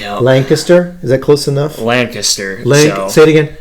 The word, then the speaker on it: Lancaster: now student pastor in it's not pronounced lancaster all that does is prove you're not from there it's lancaster is that close enough